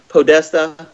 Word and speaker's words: Podesta: know got all those John podesta I think it's how you say his name it's p o d e ta I think esta yeah that's right and um my dog's